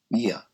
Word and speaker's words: ia: 2 letters, ia, pronounced ia.